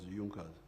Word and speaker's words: Junkers: It is written junkas but they pronounce it as Junas.